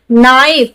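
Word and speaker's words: know: Knife. क्या पढ़ रहे हैं? नाइफ। ये हमें ध्यान रखना, कंफ्यूज नहीं होना। के है, के बाद क्या? एन, इसे पढ़ रहे हैं नो।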